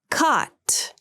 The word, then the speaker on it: caught: Caught, cut. Caught has the sound that's pronounced with the lower tongue position, and cut has the sound.